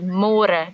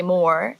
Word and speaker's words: môre: It's a little bit easier, but you have to remember to read môre, because in English it's spelled like more. So don't say more, say môre.